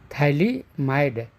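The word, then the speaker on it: phthalimide: is called thyliumide okay thali imida thali mid p h t h a l i m i d e pH is silent thylie mined then this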